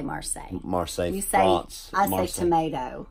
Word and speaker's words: Marseille: say American Texan that's that's right is it Marcel for MRSA MRSA MRSA is a I'd say Marseille Marseille thanks I know tomato do you think